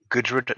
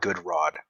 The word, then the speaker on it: Gudrud: Gudrud, not Goodrod.